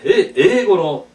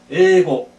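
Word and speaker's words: 英語: 그러니까 옆에 있는 사람도 역시 같이 뭐니까 아래와 에고노 텍스토 데스. 아 저건 이제 영어 교재입니다. 에고노 텍스토 데스. 영어, 영어라고 발음할 때 에고 이렇게 발음해야 됩니다. 에이고 하지 말고 에고.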